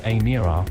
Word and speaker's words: Emira: The Emira, pronounced Emira, will eventually be priced